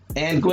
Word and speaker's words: Anguilla: She said it's Anguilla. Anguilla. That's how you pronounce it.